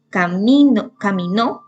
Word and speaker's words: caminó: Caminó, y tiene el acento en la última sílaba, termina en vocal y se pone una tilde.